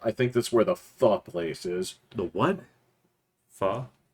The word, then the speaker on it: pho: That's how you pronounce it? The I thought it was PHO? pho, yeah. Yeah, no, it's pho. That's how I prefer.